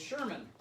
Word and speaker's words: Sherman: It's Sherman. Peabody and Sherman. Oh, I was gonna give him a clue and tell him it rhymes with Thurman.